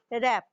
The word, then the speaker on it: wrap: Next है WRAP रैप। WRAP रैप में W इज a silent, देखिए हम रैप बोल रहे हैं, रैप नहीं बोलते हैं इसको, WRAP रैप।